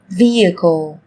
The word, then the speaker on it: vehicle: Trong tiếng Anh cũng có một số từ mà cách viết chúng ta thấy xuất hiện chữ cái h, nhưng khi phát âm thì chúng ta lại không cần phải phát âm âm này, người ta còn gọi là âm h câm.